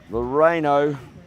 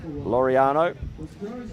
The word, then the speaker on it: Laureano: Great play there from Nick Testa to find his teammate on the bottom corner there, Sean Loreno. And that is, actually, if I'm pronouncing that incorrect, Laureano.